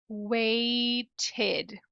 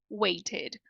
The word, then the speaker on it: waited: um wait em waited esse que é uma letra i do português faz o mesmo som que esse e ó waited waited waited Ah então agora eu